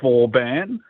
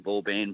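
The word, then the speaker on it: Vauban: pronunciation of this one a lot of people have been saying V ban but I believe it's VOR is that does that sound right yeah well I call him V so it doesn't matter okay I've read an article about that vorn is actually the correct pronunciation but and anyway find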